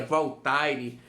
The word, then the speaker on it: Voltaire: Que na escrita seria Voltaire, mas a pronúncia Voltaire.